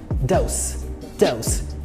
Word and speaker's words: dose: And when you pronounce it with snake sound, dose, dose, it means a measured amount of something as medicine.